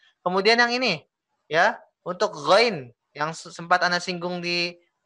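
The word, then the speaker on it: غ: Gha itu tulisannya kalau dalam bahasa Indonesia G H A ya. GH. Go sebetulnya sama dengan huruf Indonesia itu huruf G. Ya, huruf G. Coba antum baca ghairil maghdu coba. Ghairil maghdu. Nah, oke. Ya, di sini terdiri dari dua huruf sebetulnya. Bukan G aja, tapi G ditambah dengan H.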